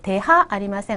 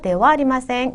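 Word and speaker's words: では: 이 단어 역시 조사 "wa" 에서 유래 했으므로 "dewa" 로 읽어야 합니다 . "deha arimasen" 이 아닙니다 . "dewa arimasen."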